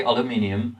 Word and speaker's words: aluminium: pronunciation is also different we say aluminium in British English and we have this